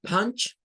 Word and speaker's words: punch: Bueno, punch, como pueden ver, suena con una AU, con un sonido entre A y U. Punch, punch. Lleva el sonido de la P, de la N y de la CH.